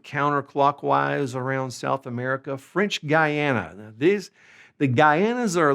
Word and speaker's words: Guyana: So French Guyana is going to be called Guyana Francesa. Okay, now I do want to say this is spelled G-U-Y-A-N-A. You are going to see a few people that spell it G-U-A-Y-A-N-A. Guyana. Guyana. Okay?